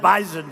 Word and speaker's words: Bison: I said, I thought it was an S. They said it is, but it's pronounced bison.